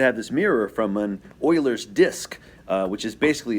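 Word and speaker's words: Euler: And I just happen to have this mirror from an Oilers's disc, uh, which is basically a stand for spinning stuff around. It looks like Uler, but it's pronounced Oiler.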